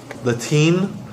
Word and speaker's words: Latin: Heiji, pronunciation-wise, I think you said Latin, and it's not an E sound, just a short I sound.